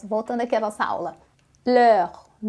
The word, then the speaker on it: les: eu digo le e quando eu digo le aqui embaixo no plural da mesma pronúncia como le por quê Porque você já aprendeu nos vídeos anteriores que o s não tem som então não faz diferença